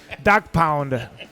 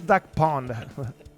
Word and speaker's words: Duckpond: but but but now the swedes are like duck pound yeah it's duck pond why so i also